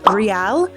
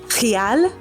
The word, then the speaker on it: real: Also, the currency in Brazil is the real, which that's the English pronunciation, but the Portuguese pronunciation is real.